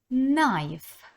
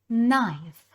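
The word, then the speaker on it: knife: ложка Plate Plate тарілка найф найф ніж зверніть увагу тут буква Наша перша літера не читається N Ідемо далі і читаємо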